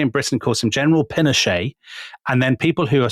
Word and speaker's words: Pinochet: But we respect Chilean pronunciation, so it will be General Pinochet.